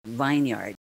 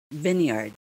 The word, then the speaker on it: vineyard: vineyard not vineyard okay it's not vineyard it is vineyard vineyard next zealous zealous not